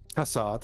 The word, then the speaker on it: Tassad: Do we pronounce it Tassad or Tassad? Or Tassad is correct.